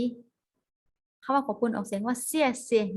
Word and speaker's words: 谢谢: คะ เมื่อ กี้ เค้า ขอบคุณ ออก เสียง ว่า เสี้ยน สิ นี่ นะ คะ อ้า ผู้ ชาย อีก คน